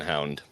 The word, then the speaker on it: Hind: went aboard the Golden Hind is that how you say the name no that's how the English pronounce it it's the golden hound hound spelled h n d The Golden Hind okay